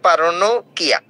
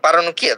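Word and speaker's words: paronychia: এইটার নাম হচ্ছে পারানোইকিয়া বা পারানোকিয়া। যা উচ্চারণ করেন সমস্যা নাই, দুইটাই কারেক্ট, পারানোকিয়া বা পারানোইকিয়া।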